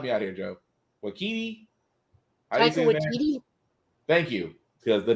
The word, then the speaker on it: Taika Waititi: know it was done by, I can never pronounce this man's name. Takaka, help me out here, Joe. Wakiti? Taika Waititi?